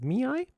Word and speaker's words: ME:I: Okay, let's move on to our final one, which is MII. That's how you say it, right? It's MII.